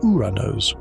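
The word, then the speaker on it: Οὐρανός: Although to be precise, the original name of the ancient Greek god of the sky, Uranus or Wuranos, is pronounced more like Uranos or Uranos, which is not nearly as ambiguous.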